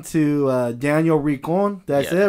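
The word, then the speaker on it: Rincón: But he changed his name to Daniel Rincon. That's yeah. it, right? Yeah. Yeah, oh, put shit. The accent on the O.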